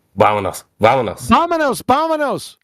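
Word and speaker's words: vamos: said gravity container also your lips should touch to pronounce the the V sound in in a Spanish so vomos vomos the V it's it's kind of like the B sound in Engish the B yeah exactly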